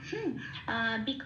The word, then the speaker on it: বৃক: আচ্ছা বৃক দ্বারা হ, বৃকটা ব্রিটা যেমন আছে তেমন থাকবে,